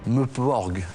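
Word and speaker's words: MMORPG: s'agit plus d'un RTS, mais d'un Meuporg. Ça s'appelle comme ça, je suis désolé. Mais ça s'écrit comment? Ça s'écrit MMMPORPG.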